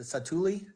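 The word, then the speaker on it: Satu'li: it sat satul canteen is that how you pronounce that place it's s sat a t apostrophe oh apop Li satuli it satuli canteen yep you said it right I don't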